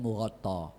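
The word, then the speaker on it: مغطى: Fi tobaki mughatta, tulisannya mughatton, tapi bacanya mughatta.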